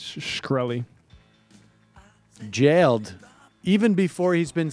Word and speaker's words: Shkreli: I think it's Shkreli.